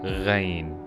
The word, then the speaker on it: غ: in this group is rain for sure so it it looks the same like I'm but with one dot above and the way we pronounce this letter is close to the French r like in the old